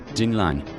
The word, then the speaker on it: Динлин: Древнее произношение «Динлин» читалось как «Динлань», они сами называли себя «Диле».